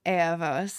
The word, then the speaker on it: Ella Vos: So Ella Vos is Spanish. It's pronounced Ella Vos in Spanish.